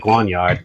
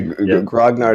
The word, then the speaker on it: grognard: i would have no oh yes i do pronounce it grognard instead of guanyart which you know we've talked about this on the show the grognard is is the correct pronunciation even if you